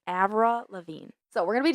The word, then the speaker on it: Lavigne: But yes, it's it's pronounced Lav Lavine. Lavine. Thank you. A Lavine. Ava Lavine.